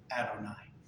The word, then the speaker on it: Adonai: When you're reading along, and you come up with those 4 letters, you say the word Adonai.